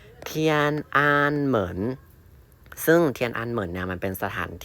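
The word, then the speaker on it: 天安门: อะไร อย่าง นี้ นะ มัน ไม่ เอา เทียนนาน นะ แต่ คำ นี้ พอ ใส่ เครื่อง ใหม่ ขั้น ปุ๊บ เรา ก็ จะ รู้ ว่า โอ๊ย มัน คน รับ พยางค์ กัน ซึ่ง มัน จะ อ่าน ว่า เทียน อ่าน เหมือน เทียนอันเหมิน ซึ่ง มัน เป็น สถาน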